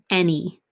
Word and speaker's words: any: at the end and the reason this word can be a little bit tricky is that that first word that first letter is actually an a even though when we say